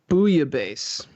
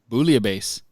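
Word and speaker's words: bouillabaisse: Booyah base. Yeah, booabase. That's really how you say it. Yeah, there's like a little there's a little bit of L's in there. Booase.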